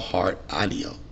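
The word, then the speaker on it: Heart Aino: Today we're going to talk about Heart Anio. I know. Or, that's how you pronounce it.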